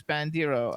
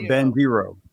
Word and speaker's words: Bandiero: bandiro it's oh uh he says bandiro how do you say it yeah dear ben guiro in america in italian exactly bandera yeah is